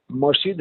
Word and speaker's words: মাসজিদ: কারণ মসজিদ হলো সেজদা দেওয়ার জায়গা। তাহলে মাজারে যদি সেজদা দেওয়া হয় তাহলে সেটা তো মসজিদে পরিণত হলো। মাসজিদ শব্দের অর্থ কি? মাসজিদ উচ্চারণ করলে শব্দটা হয় মাসজিদ।